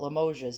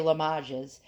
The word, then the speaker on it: Limoges: in lamo la mages i call it limoges but you say la majas and uh we'll check